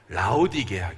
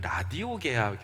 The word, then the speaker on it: 라오디게아: 오늘 마지막 나가 뭐예요 라오디게아 교회 가닥 잘못하면 라디오 개학 교회 라고 잘못 발음이 나올수가 있어요 그리고 이름이 좀 특별해